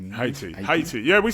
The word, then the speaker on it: Haiti: you say in Haiti. Haiti. Yeah. We say Haiti as well in English. Yeah. Yeah. Yeah. You probably don't pronounce the H as much.